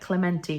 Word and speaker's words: Clemente: Like Clementi was the right way to say it. I wasn't sure it was Clementi or Clement or Clement, but Clementi sounds right.